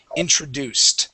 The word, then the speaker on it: introduced: When we add that D then sounds like a T. Okay, the word is introduced.